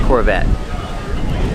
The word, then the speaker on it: Corvette: This Corvette's from the 70s. And let's talk about pronunciation. Corvette. The T is a stop T. The E is silent. Corvette. Corvette. Pronounces V with voice.